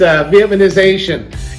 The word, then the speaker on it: Vietnamization: It's Vietnamization and policy in Vietnam War.